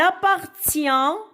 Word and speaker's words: appartient: Le mien, il appartient, alors le T muet, I-E-N se lit yan.